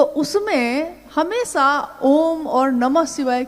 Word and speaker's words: ओम: दी जो प्रकट हुई उस ध्वनि की आवाज थी आ ओ म अगर एक साथ सुना जाए उसको तो उसकी आवाज गूंजती हुई ऐसी है जैसे हम बोलते हैं या उच्चारण करते हैं तो हम कहते हैं ओम है वो अ उ म यानी उत्पत्ति स्थिति और